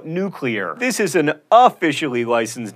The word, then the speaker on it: nuclear: fact lava and pasta nuclear nucular no nuclear this is an officially